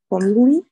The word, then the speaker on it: formulae: Formulae. Вот это вот AE в конце читается как и. Formulae. Formulae and English phrases.